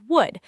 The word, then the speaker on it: would: The letter L in would is totally silent. It sounds like would.